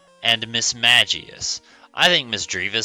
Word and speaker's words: Mismagius: Today we're looking at, it's pronounced Misdreavus and Mismagius.